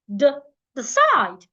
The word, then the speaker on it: decide: Remember the rule, we should stress the second syllable, side. So the first syllable, we need to rush over it. The side, not decide. The side, the side.